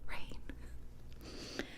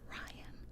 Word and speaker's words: Ryan: pronounce it right but this book Ryan rain that's the only name where I'm like like no you're wrong you're wrong that's rain it's not Ryan okay so read that